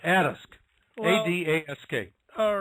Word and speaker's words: Adask: I'm about the only one who pronounces it that way. Everyone else says Adask. I hear it's, for whatever reason, it's more natural to pronounce it differently than I do.